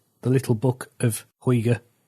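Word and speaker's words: hygge: the little book of huyga which is spelled h-y-g-g-e so if you're danish and shouting at the podcast right now i apologize for my terrible pronunciation now this idea sounds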